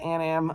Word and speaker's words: Anam: i'm gonna be at an am um the anam building a n a m i think it's uh anam i don't pronounce it